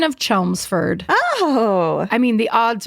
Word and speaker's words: Chelmsford: We got to take them anywhere we can because the odds of the fact that was supposed to be a silent L and a silent fucking D or whatever the tricks of the trade are.